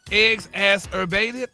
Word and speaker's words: exacerbated: It's pronounced eggs ass erbated.